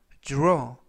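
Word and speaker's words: draw: 라고 발음 하시면 되겠구요 이때 기 r 발음이 주 르 쥬르 그래서 주어 라고 발음 하시면 되겠습니다 품사는 동사 뜻은 그리다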